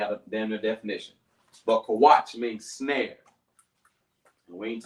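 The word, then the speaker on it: Qawach: Now, it's not Kawash, Kawach.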